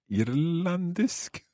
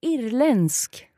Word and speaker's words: irländsk: Irlandisk? Nästan, almost. Jag är irländsk. Irländsk, okay. Jag är irländsk.